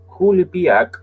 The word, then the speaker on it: Coulibiac: What does Kulibiak originate and what is it? So where does Kulibiak originate and what is it? And that is how it's said because I checked that. The spelling is Coulibiac. So that's where does Kulibiak